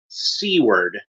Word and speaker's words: Seward: pronounce his name correctly the name is supposed to pronounced SE word but it still keeps coming out Seward like like Seward that's how you're supposed to say it but I guess it's